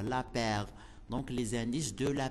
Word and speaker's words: Laspeyres: زانديس دو لا بير، أو هما باللغة تيتكتبوا باللغة الإنجليزية كتنطق لاس بيرز، ولكن باللغة الفرنسية كنطقوه لا بير.